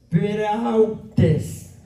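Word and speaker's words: πραΰτης: Mansedumbre, según el griego, dice que se escribe así en griego: P-R-A-U-T-E-S. ¿Cómo se deletrea entonces? Prautes. ¿Sí? ¿Repite conmigo? Prautes. Así es en griego.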